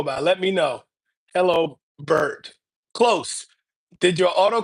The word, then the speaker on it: Byrd: So, it's B Y R D, but sometimes it does sound like bird. So, it's olopo bird. It's like bird in the sky but spelled with a Y.